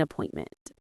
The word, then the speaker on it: appointment: Make an appointment. The stress is on the second syllable of appointment.